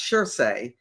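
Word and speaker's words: Surtsey: Uh it's it's pronounced Sherei, but it's spelled s ur ts y.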